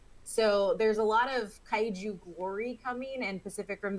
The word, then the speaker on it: kaiju: things and earlier uh one of us said guide you instead of kaiju i just want to